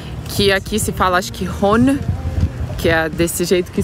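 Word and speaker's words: Rhône: do rio ródano que aqui se falasse que Roni que a desse jeito que se escreve r h o n e ele nasce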